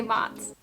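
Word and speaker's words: Mats: The way that you spelled it, I can see how it can sound like a nickname because that looks like Mott's applesauce. That is how it's pronounced, but it's M-A-T-S. It's a Swedish name.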